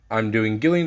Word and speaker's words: Gillian: go ahead and do gillian again or Jillian I believe people like to pronounce her I don't know I pronounce the G so we revealed the